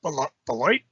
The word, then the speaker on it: Beloit: We stopped at Sunnyside Cannabis Dispensary in South Beloit.